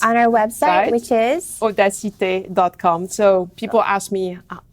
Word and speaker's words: Odacité: our website which is Odessa take calm so people ask me how how do you pronounce or - it is like audacity oh that's it with